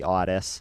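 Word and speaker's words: Ottis: befriended artist tool and i might screw up and say otis because a lot of people say otis it's spelled o-t-t-i-s and uh yorgi has told me that it is definitely odis it is and that odyss has referred to himself as oddest so lucas so at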